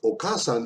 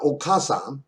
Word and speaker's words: お母さん: And if you think that's pronounced okasan, you'd be wrong. Listen, it's お母さん、 okasan.